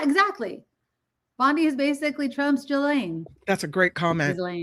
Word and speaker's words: Ghislaine: Ghislaine, let's just say Ghislaine. Okay, Ghislaine. Yeah, it's just like Elaine with a G in front of it.